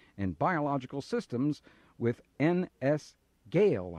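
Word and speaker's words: Goel: biological systems with NS Gail I think that's how that's pronounced goe l is that correct dr. Thompson well Gowell of course I knew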